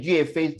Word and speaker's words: 岳飞: If you pronounce it 岳飞 is really the 四调声，岳飞 is not 岳飞 the 岳飞 go to war, right?